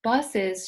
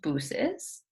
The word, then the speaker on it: buses: that, you would think, is this pronounced booses? Because the U and the E? It's not.